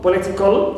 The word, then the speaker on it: political: right anti stress right like in political political so not stress Le not stress sorry T not stress and Le a stress third one from the end of what we call the anti penultimate clear also T all